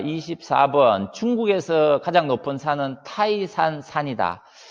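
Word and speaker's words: 泰山: 중국에서 가장 높은 산은 타이산 산이다.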